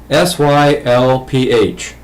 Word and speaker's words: Sylph: Second question, how do you pronounce SYLPH, the name of the alien species? That would be Sylph, the same way it would be pronounced if it was SILF.